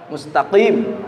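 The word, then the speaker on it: مستقيم: Kemudian huruf qaf jelas, qaf beda dengan kaf. Jangan sampai kita mustaqim. Mustaqa beda artinya dengan mustaqa. Mustaqim.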